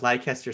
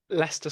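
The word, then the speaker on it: Leicester: And then Lego says, "Hey, we're going to do this crazy reveal event at Lancaster Square." Wait, is that pronounced right? Lancaster Square. No, it's Lester Square.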